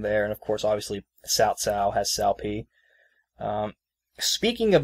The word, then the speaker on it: Cao Cao: an S, but no, you're supposed to put a T in it, so it's Cao Cao.